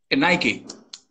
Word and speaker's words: Nike: Y el otro Nike es... Nike.